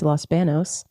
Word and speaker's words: Los Banos: bathroom yes Los BOS which Los BOS all pronounced Los Banos so born and raised in Los Banos California